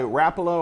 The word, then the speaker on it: Rapala: there now these baits these ripstop minnows by Rapala or some say Rapala either way doesn't matter